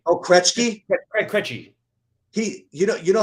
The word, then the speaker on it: Krejci: I would like you to pronounce the name. Krejci. Oh, Krejci. Krejci.